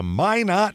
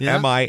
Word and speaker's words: Minot: Minot might be a place like that, and it's Minot, and it's not Minot or anything. It's Minot. That's how they say it.